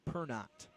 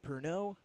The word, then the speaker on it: Pernot: George's at 120 pounds will be Billy Pernot. Asking Coach Williams about some pronunciations there before we got started, and he said, nope, not Pernod.